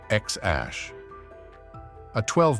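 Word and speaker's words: X Æ A-12: with his dad let's start with the name X Ash a 12 musk was later changed to just X to follow California's naming rules it's pronounced xash a12 while it sounds more like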